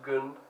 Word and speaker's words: Gun: Gun is actually a Swedish name. It's pronounced Gun, which is a female name.